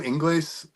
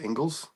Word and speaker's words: Ingles: Is that really how it's pronounced? Ingles? Yes, Joe Ingles, not Ingles.